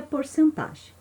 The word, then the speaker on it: porcentagem: o quê que é porcentagem Olha só muita gente tem dúvida da forma correta de pronunciar se é porcentagem ou percentagem as duas formas estão